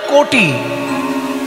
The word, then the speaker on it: কটি: কোমরকে ভালো ভাষায় বলে কোটি তবে বানানটা কয়কার টয়হসি নয় কয়কার টয়হি কোটি মানে 100 লক্ষ আর ক টয় হস্ কোটি মানে কোমর আমরা তো বাঙালি ক লিখলে ওকার উচ্চারণ করি ওকার লিখলে ওকার উচ্চারণ